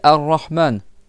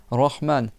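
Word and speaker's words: الرحمن: attention à quoi ici le ro qui est doublé donc c'est pas rahm c'est arrahman le ha donc c'est pas arrahman par exemple et c'est pas rahman d'accord si tu fais un c'est que c'est trop haut.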